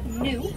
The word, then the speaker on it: gnu: Now these antelope are nicknamed gnu, which is spelled G-N-U, and that comes from a sound they make, a grunting noise that sounds just like the word gnu.